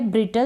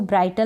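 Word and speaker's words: brittle: फिर यहाँ पर है ब्रिटल, इसको ब्राइटल ना पढ़ें क्योंकि मैंने यहाँ पर प्रोनाउंसिएशन लिखा है BRITLE टल, ब्रिटल, BRITLE टल, ब्रिटल मतलब नाजुक, ब्रिटल मीन्स नाजुक।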